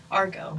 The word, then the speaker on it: arco: So, arco.